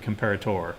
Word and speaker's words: comparator: What is a comparator or comparator? Right? There's no need to emphasize or, right? But I do because I always remember it's an OR, it's not an ER. That's why I always pronounce it comparator, right?